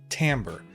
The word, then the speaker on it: timbre: you are your ends Timbre yes it is pronounced Timbre this one's very complex it's a very nuanced